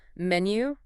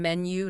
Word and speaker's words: menu: Menu. Yeah, try to get that U sound at the end. Menu, not menu. It just sounds a bit more natural.